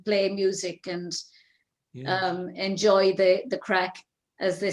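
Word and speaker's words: craic: And for anyone who's not Irish and wondering what we're saying when we say the crack, it's spelled C-R-A-I-C, and it's the Gaelic, and it actually means fun.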